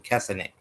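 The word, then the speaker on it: Kessenich: Griffin III and Clint kessenic that's how you pronounce his name cassinet on ESPN at noon Eastern nine Pacific is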